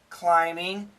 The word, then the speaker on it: climbing: Phenom okay of course the word climbing there's no B sound climbing Phenom and when we